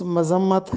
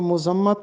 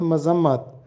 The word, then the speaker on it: مذمت: یہ درست لفظ مذمت ہے، میم پر زبر ہے. اکثر طالب علم اس کو مذمت بولتے ہیں، جبکہ درست تلفظ ہے میم پر زبر کے ساتھ مذمت.